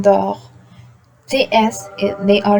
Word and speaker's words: dort: Le T here, it's silent in dort.